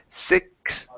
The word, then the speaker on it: sixth: When we pronounce the X then the TH, okay, it's going to be the X is going to be a KS sound plus the TH. So it's sixth.